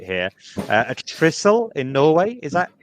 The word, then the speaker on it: Trysil: hoping I've got the pronunciation right here, a Trysil in Norway. Is that correct? Oh, so my Norwegian pronunciation isn't great either. So do apologise. I apologise to everyone in Norway listening. It's Trysil. Trysil.